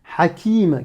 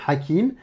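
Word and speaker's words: حكيم: Tu vas me le prononcer ha, comme une expiration de l'air, mais râpeuse, étranglée.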